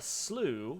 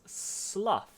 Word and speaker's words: slough: great uh uh uh if it if you mean wet swampy ground it's either a Slough or a slew slow as in rhymes with cow right but if it's shedding skin it's Slough as soon to Slough off um interesting okay so